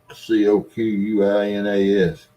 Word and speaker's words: coquina: cleaners I can't see it so I'm not c-o-q-u-i-n-a-s c-o-q-u-i-n-a-s I'm never going that alternative I'm Googling that